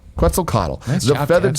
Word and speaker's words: Quetzalcoatl: Quetzalcoatl. Quetzalcoatl.